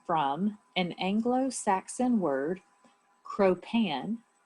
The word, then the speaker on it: cropan: crew derives its name from an anglo-saxon word cropan it's spelled k-r-o-p-a-n cro-pan um some think that the